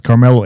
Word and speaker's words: Karmelo: Karmelo Anthony, except his name's spelled with a C instead of a K. Yeah. So maybe that's also why, this got some news because it sounds like Carmelo. But no, so it's Karmelo Anthony.